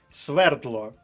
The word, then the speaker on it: свердло: в словник наступне слово свердло наголос на першому складі тож записуємо його до першої колонки свердло решето наголос на перший